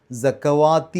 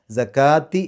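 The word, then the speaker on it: الزَّكَاةِ: എന്ന് എഴുതിയെടുത്തും കാണാൻ പറ്റും സക്കവാത്തി എന്നല്ല അത് അവിടെ സക്ക എന്നുള്ളതിനെ നീട്ടാൻ വേണ്ടിയിട്ട് വാവാണ് കൊടുത്തിട്ടുള്ളത് അതിന്റെ മുകളിലാണ് അലിഫ് കൊടുത്തിട്ടുള്ളത് അപ്പോ അവിടെ സക്കാത്തി എന്നാണ് ഓതേണ്ടത് അവിടെ ഒരു ചില മുസ്ഫുകളിൽ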